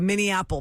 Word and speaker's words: Minne Apple: the Min apple pie the Minne apple pie so Minneapolis like Minneapolis but it's the Min Apple but it's not spell yeah it's spelled like Minneapolis not Mi n AP